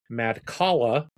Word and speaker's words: Madcala: Next, I got to play Madcala.